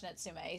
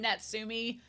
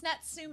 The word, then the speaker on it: Natsume: I was like oh I want to watch nsum so I'm glad also apologies I've been calling him natsumi this whole time because I'm from a ditch